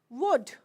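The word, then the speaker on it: would: D is there okay so it will be wood L is not there we are not saying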